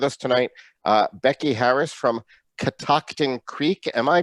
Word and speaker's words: Catoctin Creek: So we have with us tonight Becky Harris from Catoctin Creek. Am I pronouncing that correctly, Becky?